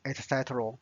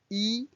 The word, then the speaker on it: 一: 一杯 E is a number. Normally it's pronounced as E first tone. However, when the next word is first tone, so it becomes the fourth tone. This is a rule, so you just need to remember.